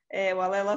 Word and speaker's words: Walela: My name is Walela you pronounce it correctly, Walela.